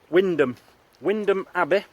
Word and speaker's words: Wymondham: at, now it's spelt Wymondham Abbey, but it's pronounced Wymondham Abbey, but it could be Wymondham Priory. I don't know where we are. No. I can't remember if we were supposed to be coming to Wymondham Abbey or Wymondham Priory, and I don't know if